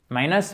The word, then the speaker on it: minus: Minus or minus? Minus. Okay. First part. Yeah, minus. The stress is on the first part.